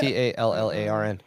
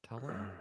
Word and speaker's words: Tallarn: Tolaran. You keep adding an A to it. Tolaran is Tallarn. Yeah. I'm saying you spelled it right. I'm saying you're pronouncing an extra A.